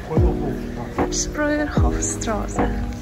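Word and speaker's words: Spreuerhofstraße: Spreuerhofstrasse.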